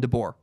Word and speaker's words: DeBoer: watching an NHL game, literally because I was trying to figure out how to pronounce his name. The announcer called him DeBoer.